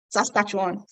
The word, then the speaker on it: Saskatchewan: a lot of people ask me how to pronounce that Saskatchewan okay so Saskatchewan has basically in a broad